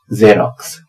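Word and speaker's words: Xerox: एक्स ई आर ओ एक्स, यह है इसकी स्पेलिंग, और पहले वाला एक्स बना रहा है ज, और बाद वाला एक्स बना रहा है आधा क और स।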